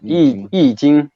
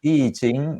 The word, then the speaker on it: I Ching: I probably didn't pronounce it. In Chinese, it's I Ching. Yes. I Ching.